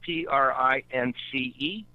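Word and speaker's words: Printz: Yeah, most people spell it P-R-I-N-C-E, but it was really P-R-I-N-T-Z. Prince. But he was known as Prince. And that was his first name was really Prince with a Z, but everybody spelled it and pronounced it Prince with a C-E.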